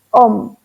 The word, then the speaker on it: om: aún no sé a algunos le escriben aún pero se pronuncia om el mantra om hace